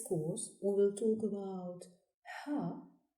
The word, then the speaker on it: ه: In this course, we will talk about Ha, Waw, Ya specific pronunciations and writings. The 26th letter is pronounced Ha and is written from right to left on the line. Ha, like in hot.